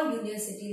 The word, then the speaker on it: university: क्योंकि उसका जो साउंड है, उसका जो प्रोनाउंसिएशन है वो यू से शुरू होता है, य से शुरू होता है, और य जो है वो कॉन्सोनेंट साउंड है, और इसीलिए यहाँ पे हमें अ यूनिवर्सिटी लिखना पड़ेगा।